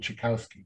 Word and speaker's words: Czechowski: i appreciate that and i appreciate the authentic pronunciation of my last name correct i i have no no no that is uh the correct pronunciation however the americanized pronunciation